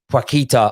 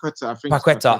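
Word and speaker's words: Paquetá: It's Portuguese. Paqueta, I think it might be pronounced. Paqueta.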